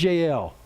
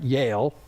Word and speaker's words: Jael: Sisera fled away on foot to the tent of Jael, or if you want to say it right, Yale. Okay, it sounds like Yale University.